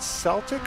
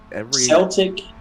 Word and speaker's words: Celtic: say it is it celtic or is it celtic celtic is the scottish pronunciation of the team okay because the celts